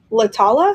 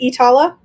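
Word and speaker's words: Iittala: I think they are Lala. Is that how you say it? Itala. It's spelled like Lala, but it's Itala.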